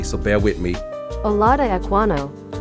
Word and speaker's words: Olaudah Equiano: Today, I want to talk about a brother, and I need to pronounce his name correctly, so bear with me. Olaudah Equiano. Olaudah Equiano.